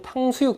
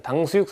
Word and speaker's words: 탕수육: 그러면은 여러분 좋아하시는 탕수육 됩니다. 탕으로도 발음이 된다는 거. 사탕, 탕수육 할 때 탕으로도 발음이 된다는 거 아시면 되겠습니다. 당수육 쓰시면 안 됩니다. 여러분 아시는 그대로 탕수육 쓰시면 되겠습니다.